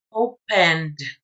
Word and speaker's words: opened: Bueno, pues entonces, el pasado de este verbo se pronuncia opened. Opened. Pronuncia usted la N y después D.